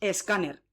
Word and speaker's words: escáner: Pues le ponemos delante una E y decimos escáner.